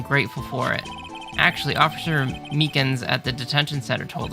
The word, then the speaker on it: Meekins: for it actually officer meekins at the detention center told us ah that poor little doggy poor guy i keep getting his name wrong and keep calling him meekly he told us something